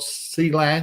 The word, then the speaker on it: Clang: Richard hael we've got cang or clang depending on how you want to pronounce it I've heard it both ways uh by Roger Swan